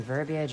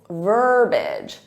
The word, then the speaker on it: verbiage: much there's that classy verbiage I love so much but there should only be two syllables verbage verbage repeat that verbage